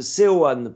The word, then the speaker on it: Seoane: Il faut prononcer logiquement à la française, Seoane plutôt. Seoane, ok.